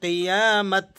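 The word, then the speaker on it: قيامة: गोल ता को हम चेंज करेंगे हा से और इसे पढ़ेंगे कयाम। यमल कयामा।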